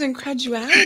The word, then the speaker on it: incredulity: I thought it was incredulity because that's always how I've thought I've heard it pronounced, but you're saying it's a different word.